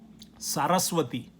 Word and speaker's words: Saraswati: brahma has a goddess his wife is named saraswati i'm going to write it down so you could spell it s a r a s w a t i saraswati saraswati has a role her role is